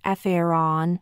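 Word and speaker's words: Faraon: relax your body well pronounce the Mantra farion like this Faron many times but mentally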